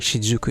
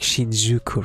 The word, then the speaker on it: Shinjuku: I say like Shinjuku, right? But it's like Shinjuku, right? I do know the Japanese pronunciation, and for the most part, if I like mention a Japanese name, I kind of pronounce it the Japanese way, like the weep way, you know?